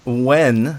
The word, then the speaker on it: Nguyen: All right, I'm here with Nguyen. That's how you pronounce his last name, if anyone was curious.